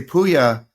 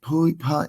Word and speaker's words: Pouya: I would say Pouya, and they'd be like, Pouya.